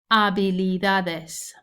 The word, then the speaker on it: habilidades: Nuevas habilidades. Again, don't pronounce the H. Nuevas habilidades.